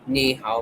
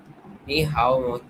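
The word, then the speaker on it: 你好: Very close. Just keep mi flat and don't rush hao.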